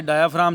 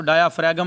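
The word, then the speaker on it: diaphragm: इसको डायाफ्रैगम नहीं पढ़ना, ये जी साइलेंट है इसमें।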